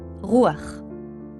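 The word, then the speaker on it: רוּחַ: This is how this word is pronounced in Greek, pneuma, and in Hebrew, rûaḥ.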